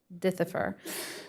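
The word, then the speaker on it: dithiopyr: And is it Dithifor? Dithifor? Is that correct pronunciation of it? Could you? Yes, it is. Okay, Dithifor.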